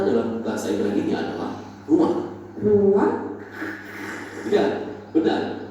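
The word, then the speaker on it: רוּחַ: Ruah. Iya, benar. Tenggorokan kita harus benar-benar bersih di akhir pengucapan.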